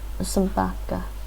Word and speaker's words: собака: Собака. Молоко. Молоко. Wait, right? Yeah, first O's. Молоко. Молоко. Sorry, молоко is what I meant to say earlier for milk. Экзамен. Examen. Собака. Собака. Oh, that's that schwa sound.